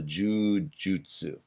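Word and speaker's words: 柔術: in japanese right but one of the pronunciations is jew and that's a elongated sound right so jujutsu right and i put down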